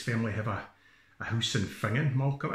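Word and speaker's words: Finzean: Fingon is spelt F-I-N-Z-E-A-N. F-I-N-Z-E-A-N. Fingon. Curious Scottish pronunciation.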